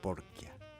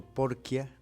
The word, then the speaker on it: Porchia: 1885 hijo de Francisco porchia se escribe porchia con che No la che funciona aquí como porqu y de Rosa bequio